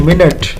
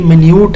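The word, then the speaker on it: minute: पर एक ये वर्ड है ये मिन्यूट है। मतलब देखिए स्पेलिंग दोनों के सेम है। इनके फोन डिफरेंट है। इनके तो फ़ सेम थे ना। बो एंड बो बट ये इनके फ़ोंस डिफरेंट है या प्रोनंसिएशन यानी मिनट एंड मिन्यूट।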